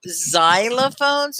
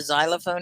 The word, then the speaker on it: xylophone: Yeah, it's like a Z, isn't it? But it's an X, and X does that a lot, where X will sound like a Z.